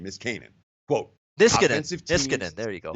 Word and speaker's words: Niskanen: Caps defenseman Matt Niskinson. How do you pronounce his name? Niskanen.